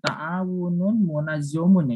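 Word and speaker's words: تَعَاوُنٌ مُنَظَّمٌ: Yang dimaksud at-ta'min, asuransi itu ta'awunu munazzomun. Oh, harusnya ta'awunun munazzomun itu ya. Yang betul ta'awunun munazzomun.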